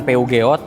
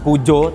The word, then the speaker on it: Peugeot: Jadi bacanya bukan PU Geot, bukan pujo, tapi pujo.